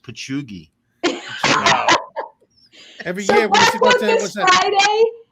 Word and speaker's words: Patchogue: Remember, Patty, I think it's pronounced Pachugi.